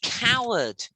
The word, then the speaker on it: coward: This Uh, is the coward.